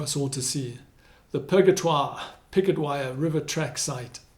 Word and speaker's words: Purgatoire: Purgatoire has been simplified into picket wire. Purgatoire. Picket wire.